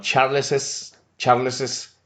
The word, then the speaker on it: Charles's: En este caso agregamos apóstrofo S, pero en la pronunciación sí cambia. Por ejemplo, en el primer caso no decimos Charles Carr, sino Charles's Carr, Francis's wife.